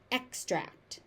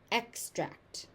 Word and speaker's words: extract: It follows pronunciation pattern 1, so the stress moves depending on how it is being used. As a noun, it's an extract, extract. As a verb, it's extract, extract.